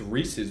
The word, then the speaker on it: Reese's: asked that question but because it's wrong it's Reese's Pieces it Rhymes I've literally never heard